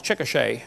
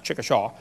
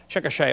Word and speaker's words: Chickasha: textbook still has it 2005 textbook and I pronounced it wrong as Chickasha that's Chickasha Chickasha Oklahoma I got corrected during the break uh